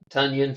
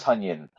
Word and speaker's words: Tonyan: Fun fact, like Funyun with a T. Yeah, Tunyon. Tonyan, Robert Tonyan.